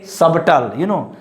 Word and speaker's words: subtle: Don't say subtle, this is subtle.